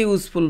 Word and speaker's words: useful: hour a few minutes a useful book use y o pronunciation होची you तो written by an